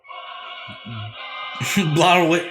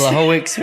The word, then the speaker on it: Blachowicz: Blahowicz. How do you say? Blachowicz versus Teixeira. Down Blachowicz.